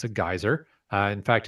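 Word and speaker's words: Geysir: that particular one, Geyser, or as it's pronounced in Iceland, Geyser, is the first known geyser discovered by people.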